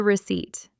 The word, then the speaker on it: receipt: This is the receipt. The receipt. This word is very tricky for English learners because it has a silent letter.